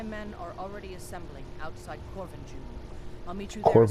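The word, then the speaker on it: Korvanjund: It's interesting that they pronounce the J. It's not Corvinjund. They actually pronounce the J in this dialect.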